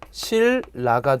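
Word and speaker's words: 신라: 자, 예를 들면 자, 실라를 발음하면 실라가 됩니다. 그렇죠? 앞에 니은이 리을로 변했습니다.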